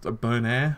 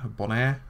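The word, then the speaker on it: Bonaire: And I believe it's pronounced Bonire, Bonire, which is B O N A I R E.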